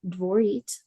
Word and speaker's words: Dvorit: Dvorit is pronounced Dvorit, like more sweet.